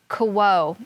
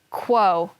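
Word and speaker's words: kwo: thunder tun tun okay that word is k-w-o i'm gonna go back to my glossary quo that's an idiophone expressing disgust that means it's like we would say or ew this cultural language is pronounce it again quo quo hebello that means disgust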